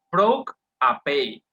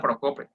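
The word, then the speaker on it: προκοπή: Entonces, esta palabra se pronuncia de la siguiente manera, se pronuncia proc apei, así se pronuncia, no se pronuncia procope, uno diría así a lo costeño, ¿verdad?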